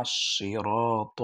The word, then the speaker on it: صراط: الصراط المستقيم صراط الذين অনেকে সেরা বলে, সিন দিয়া বলে না, اهدنا الصراط المستقيم صراط الذين أنعمت